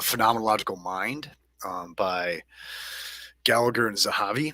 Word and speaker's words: Zahavi: Mind by Gallagher and Zahavi. I think it's Zavi is how it's pronounced.